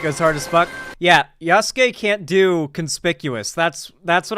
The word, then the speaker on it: Yasuke: Also, the game trailer yesterday confirmed I was pronouncing it right, Yasuke.